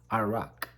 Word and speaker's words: arak: talk about is um Iraq a-r-a-k you know pronounced differently in England and probably different in America but as a native Indonesian I would pronounce the drink Iraq so the drink is